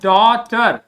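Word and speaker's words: daughter: baby ये क्या है डी ए यू हो गया डॉ जी एच को हम मैंने बताया है कोई प्रोनाउंस नहीं करते हैं क्या हो जाएगा टर ये हो गया डॉटर डॉटर डॉटर ठीक है फ्रॉम द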